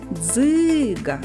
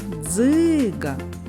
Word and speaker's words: дзиґа: складів скільки голосних звуків визначимо куди падає наголос покличемо Дзига Дзига наголос падає на звук и наступне слово ґудзик запишемо